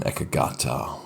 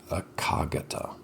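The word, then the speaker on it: ekaggatā: and the fifth one ekagata one pointedness some people i think pronounce it a kagata i've heard it pronounced too so this is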